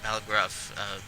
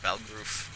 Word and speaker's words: Balgruuf: I love the difference in the way they pronounce it. She pronounces it Balgruuf, Farengar pronounces it Balgroof.